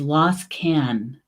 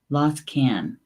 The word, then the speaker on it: Losgann: Okay, so the Gaelic word for frog is Losgann. Losgann. The Gaelic word for frog is Losgann.